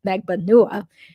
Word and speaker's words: Magbanua: megbanua now instead of magbanua um even though according to my filipino-american relative the correct pronunciation is almost certainly megbanua yesterday during the interview